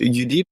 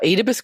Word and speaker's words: Oedipus: I'm saying it wrongly in English. Is it UDEEP? Oh, Oedipus complex. About Oedipus, which is Oedipus, he murdered his father to marry his mother.